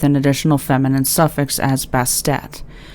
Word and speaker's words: Bastet: additional feminine suffix as Bastet. The name change is thought to have been added to emphasize the pronunciation of the ending T sound, often left silent.